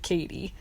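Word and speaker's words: Cady: Duval, after Katie introduces herself and she says, "It's pronounced like Katie."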